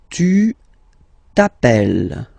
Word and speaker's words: tu t'appelles: Alright, second form, tu t'appelles. Okay, remember, final S not pronounced.